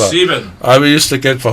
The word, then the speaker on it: sieben: How do you say in Dutch? Siva. Siva. Yeah, that was my Siva. hardest number to get, Siva. Sieben.